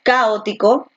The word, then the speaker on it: caótico: A ver, tú dices caótico, caótico, caótico o caótico. Caótico, ¿no? Entonces la fuerza de voz está aquí en la O.